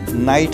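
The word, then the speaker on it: knight: है उसे इंग्लिश में नाइट कहते हैं उसे इंग्लिश में नाइट कहते हैं नाइट में के साइलेंट होता है नाइट में यह साइलेंट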